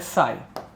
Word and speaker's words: psi: है, ब्रैकेट में लिखना साई, ये इसका सिंबल रहता है, इसका प्रोनाउंसिएशन रहता है साई, PSI साई, एटमॉस्फेयर का मतलब प्रेशर